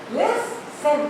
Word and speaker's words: listen: When there is a verb which has two syllables, like I say listen, listen. I am stressing on list, not tin.